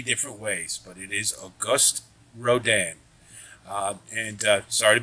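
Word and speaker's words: Auguste Rodin: horses in this uh this year's rendering uh August Roden and uh please note that is the correct pronunciation he's the sculptor of The Thinker if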